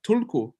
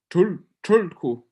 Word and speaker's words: Tulku: But they're mispronouncing Tibetan, which is Tulku. It's not quite a T, it's not quite an R. You roll your tongue back, you say tul.